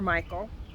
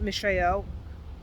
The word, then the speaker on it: Mishael: Mishael, or Michael, depending on how you want to pronounce it, but Mishael, who is what God is.